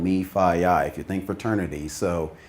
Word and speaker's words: MEFIYI: to pronounce that but if you think fraternity its called me Phi I if you think fraternity